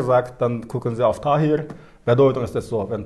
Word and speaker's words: Tahir: Zum Beispiel mein Name heißt Tahir. Dann in der Aussprache, man sagt Tayir, Tayir oder. Unterschiedliche Weise, dann unterschiedliche Regionaldialekte.